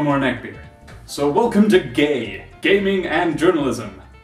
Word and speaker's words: GAJ: So welcome to GAY, Gaming and Journalism. The J is pronounced like a... GAY!